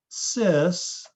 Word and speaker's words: cis: trans isomers okay so remember cis put an s in there it's a soft c you can write it sis which reminds me they